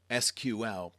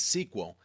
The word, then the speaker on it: SQL: SQL structured query language SQL pronounced as SQL or sometimes as sequel is actually the standard